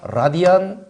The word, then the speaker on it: 라디안: 이거는 단위가 라디안 퍼 세컨드입니다.